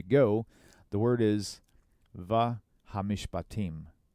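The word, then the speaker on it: המשפטים: The way they pronounce this is hamishpatim. So ha, mi, sh, and again another sh doesn't have a vowel. Hamish, kind of like a stop sign, if you will. Hamish, pa, team.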